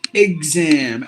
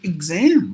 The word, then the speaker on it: exam: the pronunciation But Here We tend to pronounce a word as exam as it is but it should be exam like IG if you put e